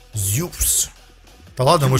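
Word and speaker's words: Zeus: Точнее, я уже привык, еле привык, что Зевс это Зеус. Зюс, точнее, правильно говорить. Зюс.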